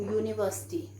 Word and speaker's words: university: i can give you university so this is pronounced as u so that's why i am putting a university right university is a